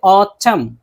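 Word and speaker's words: autumn: जैसे कि ऑटम, देखिए यहाँ एम के बाद एन है तो इनको नहीं पढ़ेंगे।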